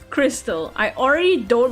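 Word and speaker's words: Krxstxl: to name her daughter confused the name is pronounced Crystal excuse me it's pronounced cricks as [ __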